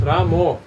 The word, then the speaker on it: Rama: Sometimes devotees instead of chanting rama, they chant ramo. Yeah, there is Bengali accent.